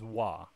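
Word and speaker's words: は: um character is ha it's used as a marker in the sentence to mark like the subject which means that it's pronounced as wah and this will be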